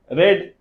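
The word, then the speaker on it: read: थे हैड वी नॉट रेड देखिए यहां पर रीड है लेकिन आप रेड पढ़ेंगे रीड रेड रेड होता है स्पेलिंग से प्रोनंसिएशन चेंज होता है नेक्स्ट क्या कल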